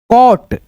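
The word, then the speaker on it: caught: बस दोस्तों आप ध्यान रखो जब किसी वर्ड में ए यू आए तो ए यू को ओ के रूप में पढ़ा जाता है। जैसे सी ए यू जी एस टी कॉट सी ए यू जी एस टी आर डॉ डॉटर।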